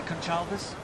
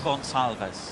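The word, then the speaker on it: Gonçalves: rail Sam con Chavez how do you say conchalvis Gonzales gonzalves thank you gonzalves well uh another single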